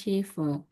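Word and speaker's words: Schiffe: dari bahasa Indonesia itu SCH selalu kita baca sy ya. Jadi shive bacanya shive.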